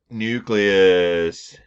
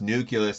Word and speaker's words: nucleus: Nucleus. Again, I've mentioned this before. It's not pronounced nucleus, it's nucleus. Oh, rats, my, what do you call it?